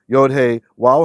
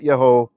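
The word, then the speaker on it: יהוה: of the reasons that we know how to say his name and no it's not yov that's absolute nonsense so here if means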